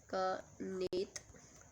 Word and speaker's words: कनेत: Then खेंत, कनेत बोल सकते हैं आप इसको, कनेत इसका pronunciation कनेत. And then D option है हमारे पास किन्नर.